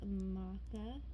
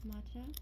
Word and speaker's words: matcha: We have the maca chocolate, or matcha, I think that's how it's pronounced. Yeah, matcha.